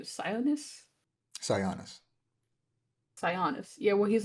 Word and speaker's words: Sionis: in issue 3 where there's like how do you pronounce his name? Sionis? Sionis.